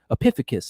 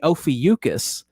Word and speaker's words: Ophiuchus: in the southern hemisphere no no it's just epiphanicus and i'm like how do you spell it and he's like oh pee and i'm like oh you mean ophiuchus and he's like he's like yeah man i'm